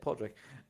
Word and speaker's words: Podrick: name just down here that's how you say it Podrick um broadcasting live across